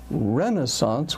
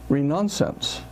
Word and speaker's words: Renaissance: like Uncle something uh rather than Renaissance with a stress on the first syllable I heard ronance and rather than autopsy